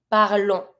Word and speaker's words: parlons: This one we pronounce. We pronounce the on, not the s, but we do pronounce the on. So we're gonna say nous parlons.